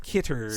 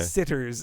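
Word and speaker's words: Citters: to this man because I did mispronounce his name on who frame Roger Rabbit Daryl van sits not kitters sitter okay sitters it's spelled c i t t RS uh but he as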